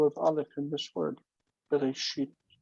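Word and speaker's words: בראשית: Aleph has no value. It's nothing. Hmm. You have to represent it in transcription. But it's nothing. The Aleph is just sitting there. It even doesn't count as closing the syllable. It's nothing. The syllable is long and unaccented. So we would say be, re, shit.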